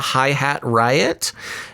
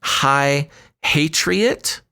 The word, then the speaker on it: Hi-Hat Riot: I will say, when I first saw Hi-Hat Riot, it's spelled like High Hatriot. And I thought it was a troll coming to troll the Patriots, but it took me a second to say Hi-Hat Riot.